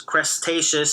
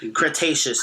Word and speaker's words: Cretaceous: learn about crime because uh cretaceous crustaceous sorry i like i'm butchering the name cretaceous is how you pronounce it yeah like [